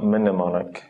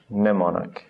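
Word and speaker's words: mnemonic: n Sound we have words like pneumonic sorry pneumonic so it's not mneumonic just pneumonic I don't have any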